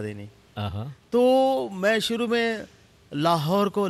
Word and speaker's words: لاہور: تو میں شروع میں لاہور کو لاہور کہتا تھا، تو میرے اسٹیشن ڈائریکٹر نے بولا بھائی لاہور کیا ہوتا ہے؟ بھائی لاہور ہوتا ہے. لاہور بھی ہوتا ہے، لیا ہور بھی ہوتا ہے.